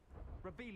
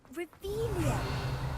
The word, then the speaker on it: Revelio: Revelio. Haven't been over here yet, so checking items. Looking for the blasted thing in the first place. Where are you? Rebellious. You're saying it wrong. Ugh, Revelia.